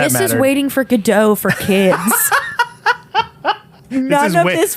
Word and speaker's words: Godot: I learned recently that the proper pronunciation is waiting for Godot.